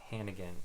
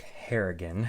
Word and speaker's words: Harrigan: right um yes so mark hannigan is his turn sorry mark harrigan i keep mispronouncing his name all right so winifred